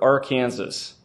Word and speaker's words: Arkansas: And I have to say that in Kansas, you're supposed to pronounce this river Arkansas.